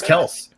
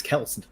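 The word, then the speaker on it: Kelce: being by at virginia travis kels it's not kel yeah we'll see man it's kelson yeah apparently uh but yeah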